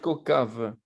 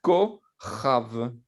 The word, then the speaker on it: Kochav: C'est la même prononciation que le chet. Je sais pas. Donc, vous Ou- allez dire Kochav.